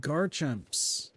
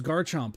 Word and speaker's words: Garchomp: Oh, and then there's Gibble, Gabite, and Garchs, which is Garchomp, but I just said the name wrong.